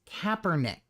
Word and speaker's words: Kaepernick: And 2, his name is Kaepernick.